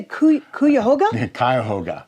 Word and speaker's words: Cuyahoga: with how do you say cuckoo your Hogan Cuyahoga Cuyahoga Valley environmental education that was the one in